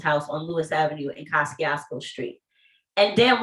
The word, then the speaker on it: Kosciuszko: my favorite uncle's house on lewis avenue in kosciuszko street and damn right it's pronounced casting osco by all the old school brooklyn natives because